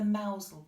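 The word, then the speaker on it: Mousehole: Look it up, the Mousel cat. It's spelt mouse hole, so if you want to look that up.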